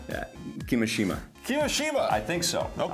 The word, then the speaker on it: Kimishima: Kimishima? Yeah, Kimishima.